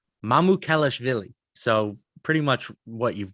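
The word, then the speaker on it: Mamukelashvili: Sandro Mamouloukshavili. I'm almost positive I'm saying. I'm actually not totally positive I'm saying it right, but I do my best. I actually listened. I listened to the Nets play the Bucks yesterday on the radio, and it was Mamouloukshavili.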